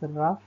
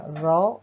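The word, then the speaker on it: Rouf: rough and it is generally pronounced as rough in villages and raw in cities this dance is performed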